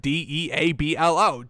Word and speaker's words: Deablo: I know it's not spelled like Diablo, but Deablo.